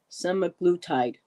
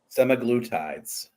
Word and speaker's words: semaglutide: those drugs SE sagud so how do you say it sagud or s s semaglutide semaglutide okay um juwel said I